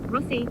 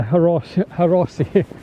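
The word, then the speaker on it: Hrossey: Rossi, H is silent. The H is silent. Rossi. Not the Harossi. The Rossi. Shipspotting50 says hi, I've never seen this channel before.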